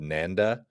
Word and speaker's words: NANDA: I've seen one white paper called Nanda um like rhymes with panda uh which is trying to solve the non-human identity aspect of agentic workflows so that accountability isn't a problem.